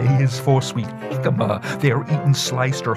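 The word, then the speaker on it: jícama: j is for sweet jicama they are eaten sliced or whole if you pronounce the j like h you're speaking espanol give me a fruit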